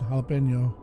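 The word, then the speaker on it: jalapeño: jalapeno I like no it's jalapeno because the the J makes an H sound and then like the N is a has like the little the little accent to make it inide of n it's like more of an N sound so it's the same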